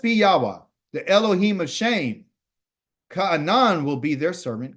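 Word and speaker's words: Shem: most high had revealed to us something about shim okay his real pronunciation of his name is called shame but it's not the shame that you and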